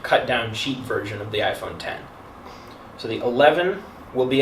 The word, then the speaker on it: iPhone X: 10 and of course they used the Roman numeral 10 so everybody kept pronouncing it the iPhone X even though was the iPhone 10 that was number 10